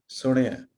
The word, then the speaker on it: ਸੁਣਿਆ: ਅਡਾਣੇ ਨੂੰ ਸਿਹਾਰੀ ਹੈ, because it is very difficult to differentiate Ranana with a Sihari and a Bihari if we say Suniya. So Suniya would be with a Sihari and Suniya would be with a Bihari. So since it is Sihari, so we would say Suniya.